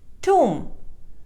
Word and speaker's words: tomb: the correct pronunciation is tomb B is silent Wednesday it is mispronounced